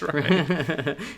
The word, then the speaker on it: Rian: It's Ryan. It's spelled I'm pretty weird.